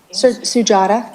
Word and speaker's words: Sujata: How you pronounce her name? Sujata, Okay.